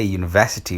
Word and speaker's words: university: So example-ka marka wuxuu ku leeyahay, so we say university with a y sound at the beginning as though it was spelled university, sida iyadoo university y